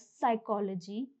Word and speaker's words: psychology: Similarly, in the words psychology, psyche, psychotic, and pseudo, the P is silent.